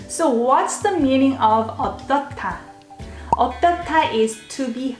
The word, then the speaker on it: 어떻다: When you hear this sound, 어떻다, it sounds almost like T. You don't pronounce H here. 어떻다.